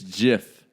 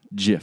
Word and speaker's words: GIF: pronounce it wrong it's jiff I will die on this hill the man that created them came out and said it's pronounced jiff there there was no